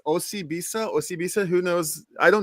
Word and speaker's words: Osibisa: So I will just say it's Osibisa.